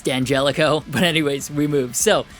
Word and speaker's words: D'Angelico: comments about the pronunciation it's not d'angelico it's danjelico but anyways we move